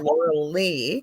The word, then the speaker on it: Lorelei: It's spelt like the Loreleis, but it's Yeah, Laurel Lee.